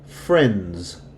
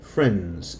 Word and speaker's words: friends: you hear it friend with the S you don't hear the D sends all right let's take a look at this I say that because here friends the D is silent friends it's muted I to